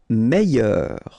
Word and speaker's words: Meilleur: Meilleur. Okay, same thing here. I-double-L-Y. Meilleur.